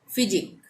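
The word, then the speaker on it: physique: अब है फिजिक, यहाँ पे भी QUE एक साथ आ रहा है लास्ट में, तो यहाँ पे भी उच्चारण क्या होगा, क का, फिजिक, ठीक है।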